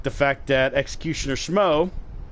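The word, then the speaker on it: Smough: Like the fact that Executioner Schmo, it is pronounced Schmo, not Schmog, not Smoog, it's Schmo.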